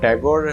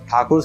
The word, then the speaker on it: ठाकुर: चीज़ को जो है ठाकुर से टैगोर ऐसा प्रोनाउंस करना शुरू किया, क्योंकि वो ठाकुर प्रोनाउंस नहीं कर पाते थे, इसलिए उन्होंने टैगोर कर दिया।